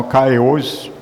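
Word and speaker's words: καιρός: Donc ce mot kéros Ou dans sa prononciation, Kairos, dans la plupart je prononce le mot, l'écriture française. Donc dans sa prononciation grecque, c'est Kairos. Donc en français, Kairos.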